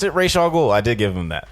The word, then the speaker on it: Ra's al Ghul: There's like, and pronounced it Ra's al Ghul.